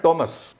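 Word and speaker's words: Thomas: एच ए टी दैट लेकिन टी एच जो एमए एएस थॉमस कहते हैं लोग। हां। उसका उच्चारण है टॉमस। अच्छा एच यहां साइलेंट। एच साइलेंट है।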